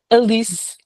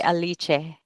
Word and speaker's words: Alice: Alise. Is that how you say it? Yeah. Alise. Alice. Yeah. Okay. No, because in uh here in Italy it would be aliche. Yeah, here in Portugal we have like more nasal sounds.